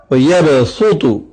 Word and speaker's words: وَيَبْسُطُ: دی جا رہی ہے۔ قرآن مجید میں سورہ بقرہ کے اندر ایک لفظ ہے وَيَبْسُطُ، یہاں پر صاد پر سین لکھا ہے لیکن اس کو سین تلفظ کرنا ہے، یعنی وَيَبْسُطُ اس طرح سے تلفظ